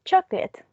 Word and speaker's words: chocolate: we have the word chocolate how many syllables does this a word have two exactly it has two syllables two syllables it's divided into chuck and let so in terms of